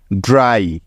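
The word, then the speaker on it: dry: এর পরে ওয়াই থাকলে ওই ওয়াই এর উচ্চারণটা আই এর মত হয়ে হয়ে যায় কিছু উদাহরণ দেখলেই এই বিষয়টাও খুব ভালো করেই বুঝতে পারবে যেমন ডি আর ওয়াই ড্রাই তো দেখো এখানে প্রথমেই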